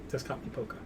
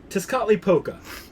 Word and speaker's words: Tezcatlipoca: Oh, first, can you pronounce that name for me? Tezcatlipoca? Okay. Tezcatlipoca. Tezcatlipoca.